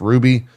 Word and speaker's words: RWBY: They also had, I think, a show called, I think it's pronounced Ruby, which is like their anime, and then also a RWBY or whatever, yeah, right?